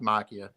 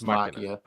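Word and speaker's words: Machina: c h i n a x Maia it's pronounced Makia m a m a c h i n a yeah X Makia yeah it I think it's 2014a yeaha yeah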